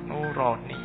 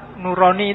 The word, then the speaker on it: Nurani: apa bahasa jawo ya kalau bahasa jawo kan bacanya o jadinya nuroni atau bahasa Arab Kalau bahasa Arab Nurani itu bagus dua cahaya kan dua Nur oke terus sampai end